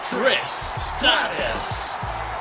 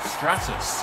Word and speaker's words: Stratus: Taking her way to the ring from Toronto, Ontario, Canada, Tristatus. Stratus. I always pronounce her name wrong.